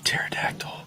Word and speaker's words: pterodactyl: your volume's up why can't you hear a pterodactyl going to the bathroom cuz the p is silent God somebody asked me where did your